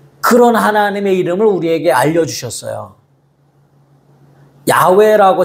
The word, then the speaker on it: 야훼: 야훼라고 정확한 발음으로 이야기하는데 한글 성경에 여호와라고 돼 있으니까 편하게 여호와.